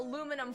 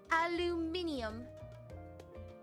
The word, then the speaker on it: aluminium: Oh, aluminum foil. Aluminum foil. You're right. You're right. What about... As the British say, aluminium.